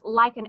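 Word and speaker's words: Licon: I'm sure that's an incorrect pronunciation, but it's Lycon, L-I-C-O-N.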